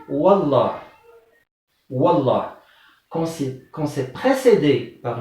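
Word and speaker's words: والله: Il ne dit pas wa Allah, il dit wallah.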